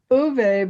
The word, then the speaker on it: Uwe: Yeah, it's Uwe because the Germans pronounce the W as a Right.